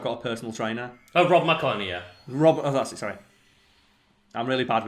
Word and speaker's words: Rob McElhenney: Like, again, I'll mispronounce the guy's name, Rob McElroy? The Always Sunny guy? Yeah. Where he just got buff and he went, yeah, because I've got a personal trainer. Oh, Rob McElhenney, yeah.